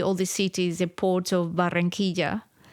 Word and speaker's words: Barranquilla: Do I pronounce them right? Cartagena? Yes. Barranquilla? Barranquilla, yes.